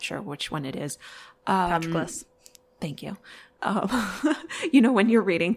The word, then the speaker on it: Patroclus: Patroclus. Thank you. When you're reading things in your head and your brain pronounces it one way and you're like, wait, this is going to be wrong.